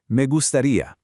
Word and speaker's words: me gustaría: Spanish, me gustaría. Notice the pronunciation of the G here. It's a soft, slightly breathy G, followed by that long E sound at the end.